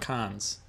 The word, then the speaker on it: Cannes: What about cons or canes or however you pronounce that? What do you mean? The big festival. CANNES. Oh, can? Oh, con. Okay.